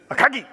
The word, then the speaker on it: Akagi: Within minutes, Soryu, Kaga, and Akagi, or I should say it like Japanese, Soryu, Kaga, Akagi.